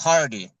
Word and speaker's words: Hardy: We got from Force Milling, we got Brandon and we got Hardy.